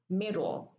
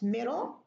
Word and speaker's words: middle: So it's middle, riddle, saddle, and total, bottle, cattle, little. So because we delete the vowel before the L, we call it syllabic L.